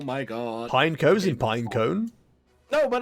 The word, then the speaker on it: Pineco: doesn't make sense yeah it's pineco obviously because obviously it's a pine cone so pine like the first syllable should be pine but pineapple sounds not